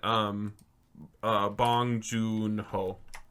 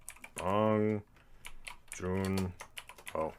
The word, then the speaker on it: Bong Joon-ho: So delete Edgar Wright, and I want Bong Joon-ho. Bong Joon-ho. Joon-ho is 1. It's June spelled with a J. Hyphen Hoon.